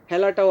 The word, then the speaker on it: হেলা: এভাবে তোমাদের শব্দে আছে হেলা, হেলাটাও আমরা উচ্চারণ করব হেলা, হজফলা আকার দিয়ে, হেলা।